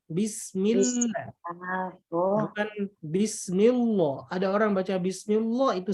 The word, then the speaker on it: Bismillah: Lam jalalah tarqiq adalah lam pada lafaz Allah yang cara bacanya tipis.